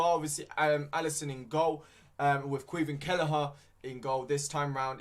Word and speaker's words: Caoimhin Kelleher: We have got Caoimhin Kelleher. It took me a while to know how to pronounce his name, but now I do. Caoimhin Kelleher in goal.